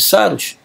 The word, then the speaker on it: Saros: Saros vem do grego saru, que significa Saros, pronuncia-se Saros, né?